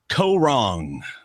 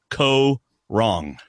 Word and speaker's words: Kaôh Rōng: cast has been announced for Survivor season 32 Co wrong and that is how you pronounce it David ko wrong I'll be letting you pronounce it all season long and I'm not wrong it's Co wrong and David and I are about to look